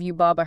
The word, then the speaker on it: Yubaba: And the pronunciation of Yubaba herself is equally specific. The guide breaks down the syllables really carefully. How so? Well, the Baba part is not pronounced like a sheep going baa.